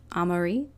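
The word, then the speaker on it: Amaury: Also, real quick, I realized I think I mispronounced his name. It's Chef Amari, because he's French.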